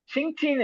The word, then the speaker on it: 星期: பாத்தீங்கன்னா சிங்சி சிங்சின்னு இருக்கு சோ எக்ஸ் ஐ எக்ஸ் சவுண்டே வந்து நம்ம ஷி மாதிரி ப்ரொனவுன்ஸ் பண்ணுவோம் அதுக்கப்புறம் என்ஜி ஐஎன்ஜி இருக்கு சிங் அதுக்கப்புறம் கியூஐ சோ கியூ வந்து இச்சு சவுண்டு அப்புறம் கூட ஒரு இ ஐக்கு வந்து அந்த இ சவுண்டு சிங்சி சோ சிங்சினா வீக் ஹைஸ்